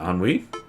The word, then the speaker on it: ennui: What, ennui? That is the correct way to pronounce it, and it is a real word.